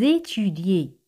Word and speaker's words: étudiez: Vous étudiez. Aquí las letras E y Z se pronuncian como E española.